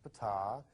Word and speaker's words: Ptah: That's pronounced Ptah.